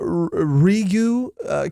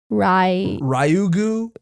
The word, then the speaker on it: Ryugu: That's where the royal gondola from the Rigu castle shows up. Rigu? Rigu. Is it, how do you spell it again? It's Ryugu.